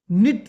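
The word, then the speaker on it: knit: हफ्ता उधर गुजारा ग्रैंडफादर निट निट देखो एन से पहले के साइलेंट होता है।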